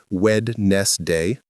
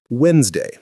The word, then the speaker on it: Wednesday: How most people say it is wedst day. Clearly, how to say it is Wednesday compressed. The D is soft. Most native speakers don't pronounce every letter.